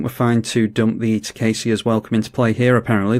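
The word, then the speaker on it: Tocasia: And I think we're fine to dump the Tacasia's Welcome into play here. Apparently this is pronounced Tacasia, someone told me the other day,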